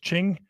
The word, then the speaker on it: Qing: of the Qing Dynasty Qing is pronounced Ching you know them as